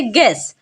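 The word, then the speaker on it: guess: vowel से पहले है तो यू होगा साइलेंट तो पढ़ेंगे गेस यहां पर टंग में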